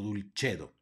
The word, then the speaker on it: dulcedo: misericordia e sino misericordia luego tenemos una c seguida de una e va a sonar como Che por lo tanto aquí se pronuncia dulcedo no dulcedo sino dulcedo luego tenemos una doble